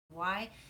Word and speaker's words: Saucony: As far as shoe recommendations, I always go with Saucony. I think that's how you say it. It's Saucony because they last forever and they're also really inexpensive.